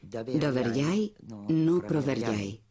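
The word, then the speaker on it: Доверяй, но проверяй: Entonces dije, aquí está, y es Doverjai, no Proverjai. Mr. General Secretary, though my pronunciation may give you difficulty, the maxim is Doverjai, no Proverjai.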